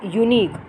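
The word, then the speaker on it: unique: अब यूनिक में क्या है? यहाँ पर यू है, वॉवेल है, हम एन फिल कर सकते हैं, बट क्यों नहीं करेंगे? क्योंकि यहाँ पर ए जो है आपका इसलिए आएगा क्योंकि यूनिक में ये की साउंड आ रही है।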